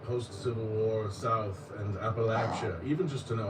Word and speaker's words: Appalachia: Jim Crow and Post Civil War South and Appalachia. Even just to know how to pronounce it properly, Appalachia, you know, I learned so much working on it and it's been a real joy.